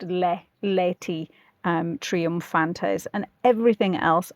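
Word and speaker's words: laeti: Um the only odd one is lei in the first third complete bar l a e and they usually appear in um old Latin versions with the a and the e back to back like conjoined um and that's just pronounced lei um triumpantes and everything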